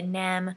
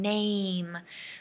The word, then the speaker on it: name: cannot say it correctly they'll say nem so be really careful of the a the long a sound name you must say the a sound before you close your mouth for the m okay